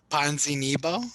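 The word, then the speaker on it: Ponzinibbio: bibu how do you say it ponzi nebo ponzinibo there we go verse uh lee you didn't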